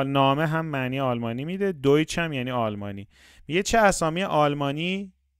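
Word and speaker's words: Deutsch: اگر ای و یو پشت سر هم اومدن صدای اوی میره توی آلمانی. برای همین ما اینو این کلمه دویچ رو ولشه دویچ نامن دوی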